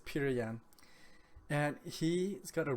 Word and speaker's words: Petr Yan: calling peter peter yan it's p-e-t-r i'm not sure how to correctly pronounce that i'm going to say this peter yan and he has got